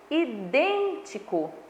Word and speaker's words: idêntico: Eu tenho aí idêntico, tá? Então, eu tenho a última sílaba, eu tenho a penúltima sílaba. A última sílaba aí de idêntico, ela é uma sílaba átona. A penúltima sílaba de idêntico é uma sílaba átona. A antepenúltima sílaba de idêntico é uma sílaba tônica.